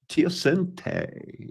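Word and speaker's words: teosinte: Tioente is how that's pronounced.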